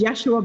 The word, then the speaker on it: Yeshua: And they said, is not really the way we say our name. The way I say my name. My name is Yeshua ben Joseph of Nazareth.